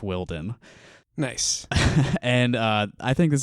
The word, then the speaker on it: Wilden: Willie Wilden and I've learned that it is pronounced Wilden nice and I think this is gonna be